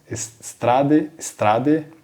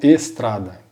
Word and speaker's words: strade: As palavras que iniciam com S em italiano, eu não pronuncio o E, né, então eu não falo estrada.